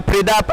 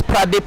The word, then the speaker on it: Pradip: Good running in between wicket by Pridap and Samuel. I beg your pardon for my Indian friends who are watching this. His name is Pradip, not Pridap. So the right pronunciation is Pradip.